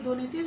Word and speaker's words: ধ্বনি: ধ্বনিটির স্বাভাবিক উচ্চারণই হয় যেমন যদি বলি ধ্বনি ধ্বনি অর্থাৎ যে আওয়াজ তো ধ এর সঙ্গে বহলা যুক্ত রয়েছে এই ধ্বনিটি কিন্তু আমরা বহলা উচ্চারণ করছি না এবং ধ্বনি এই ধটিকেও আমরা অন্যরকম ভাবে কোন উচ্চারণ করছি না বরং ধ এর যে স্বাভাবিক উচ্চারণ থাকে সেই স্বাভাবিক ভাবেই উচ্চারণ করছি ধ্বনি তারপরে আবার যদি বলি